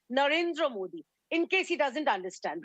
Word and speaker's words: Narendra Modi: your show he precisely he pronounced es our honorable PM's name as Narendra Modi please tell him the name is Narendra Modi in case he doesn't